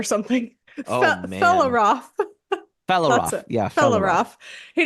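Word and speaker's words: Fréaláf: So Of the the Meras, the yeah, Felaroff. Felaroff is how you pronounce that.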